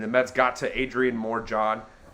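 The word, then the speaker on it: Morejón: Mets got to Adrian more John I know it's pronounced Moray hone but we want to call go with more John so complete I think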